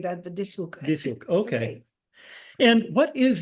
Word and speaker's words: van Dishoeck: your name so my first name is the pronounced as Aina Aina and the last name is Von dis hook so you separates the S and the H